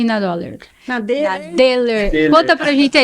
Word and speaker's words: Dohle: de origem alemã, então se escreve Dollar, né? Dollar. No português, mas como tem a trema no O, em alemão isso vira som de E. Então é Deller. Deller.